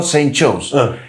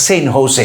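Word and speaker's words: San Jose: wow for a custom officer oh it's not Saint Joe's here in America when you pronounce the letter J it is pronounced as Hage so it's not Saint Joe's it's Saint Jose it's not Saint Joe's it's Saint Jose Customs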